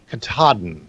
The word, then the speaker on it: Katahdin: How do you pronounce that one? Katahdin.